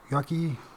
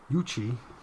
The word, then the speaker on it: Yuchi: UFO and alien contact cases an ancient yucky dude that's not right yuchi let's see you it's y-u-c-h-i It's gotta be